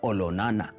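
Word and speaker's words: Olonana: his younger brother now much more famously known as lenana was actually olona to give it the correct maasai pronunciation he was a great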